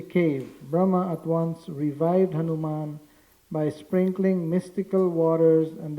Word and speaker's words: Hanuman: Hanuman with inconceivable Healing Touch Hanan and the pronunciation is Hanuman not Hanuman Hanuman it's a long a there okay so